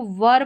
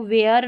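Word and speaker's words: were: इसको वर पढ़ेंगे। यह रहा इसका उच्चारण वर। इसको वेयर नहीं पढ़ेंगे।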